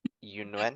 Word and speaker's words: Yunuen: Correct me if I'm wrong, if I'm mispronouncing this. Yunuen?